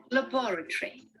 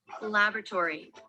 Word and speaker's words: laboratory: Laboratory. Listen again. Listen to the British pronunciation here. Laboratory. Laboratory. This is the American. Laboratory.